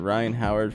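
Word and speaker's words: Rhyne Howard: Yeah, I'm gonna be taking Aaliyah Boston for over 23.5 PR, and I'm taking Ryan Howard for under 34.5 fantasy score.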